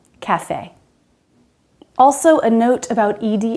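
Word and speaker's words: café: rat rate breath breathe but note the word cafe we do pronounce that ending e even if it's written without the accent cafe also a note about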